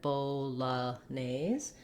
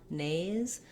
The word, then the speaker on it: Bolognese: beginning of the syllable this nese has the a vowel and the sc says the z sound in this word you might want to build from the back because our stress here is on nays so trying just nay